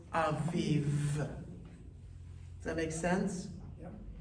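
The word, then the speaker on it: אביב: know is challenging is the piece that threw people off when we read the word aviv, right? Like it's cool, you got it, ah, and then you got the V, but now you're adding another consonant at the end of that, right? So that's just the piece where you have to remind yourself it's the consonantal sound, right?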